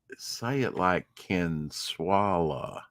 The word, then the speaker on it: Consuela: So say it like Consuela.